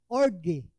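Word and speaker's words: ὀργή: Wrath, orge. Orge. Ang pronunciation ko noon is O-R-G-A-Y. So, orge.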